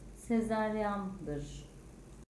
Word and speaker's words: sezaryen: olan kelimenin okunuşu zatürre yazılışı sezaryen olan kelimenin okunuşu Sezaryan yazılışı itibarıyla olan kelimenin